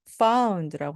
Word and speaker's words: found: found라고 하는 것이 찾는 겁니다. 앞에서 the가 붙어서요. The Lost and Found Center. 이것이 바로 분실물 센터입니다. 이때 found에서 D 발음을 거의 안 내셔도 됩니다.